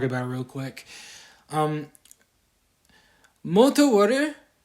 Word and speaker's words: Multi-War: it real quick um mot water is pronounced is literally multi as in multiple things and then water short for warrior I just pronounced it like water because it fit nicely especially combining with multi so yeah that's that's literally